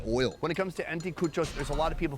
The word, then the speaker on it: anticuchos: We've been eating street food all day, and it all has built up to this moment right here with the anticuchos. How's that pronunciation? Exacto, anticuchos.